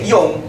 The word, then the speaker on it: Jong: Jong Ambon Jong selebes itu kan Jong bahasa Belanda e bacanya itu J itu bahasa bacanya itu ye jadi ye Yong y dan artinya sama muda